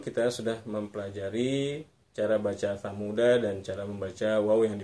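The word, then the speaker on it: ثمودا: Jadi Thamuda tidak seperti itu, tapi tetap Thamuda. Danya satu ketukan saja, Thamuda satu ketukan. Tidak kita panjangkan Thamuda.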